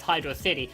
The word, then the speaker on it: Hydrocity: saw high dose city i was already pronouncing it correctly as hydro city not hydrocity like i would have theorized yo that makes me